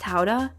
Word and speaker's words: Gouda: It's pronounced Howda. No, it's not. Gouda's pronounced Howda?